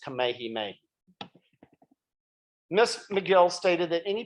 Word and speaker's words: Kamehameha: union on hawaii that i still mispronounced the name of the great hawaiian king kami hamiha instead of properly as kamehameha miss mcgill stated that